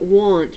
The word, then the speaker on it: want: But we're going to put want right here, because want actually sounds like a short O.